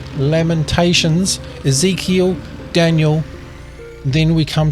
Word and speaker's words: Lamentations: are the major Prophets The Major Prophets are pronounced Isaiah Jeremiah Lamentations not lamingtons Lamentations Ezekiel Daniel then we come to the Minor